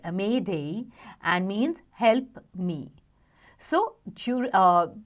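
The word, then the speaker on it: m'aidez: The term Mayday, used for signaling for help after SOS, comes from the French M'aides, okay, which is pronounced Mayday and means help me.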